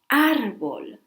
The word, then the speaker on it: árbol: Or árbol. Árbol. It has the mark on top of the A, so we stress that vowel.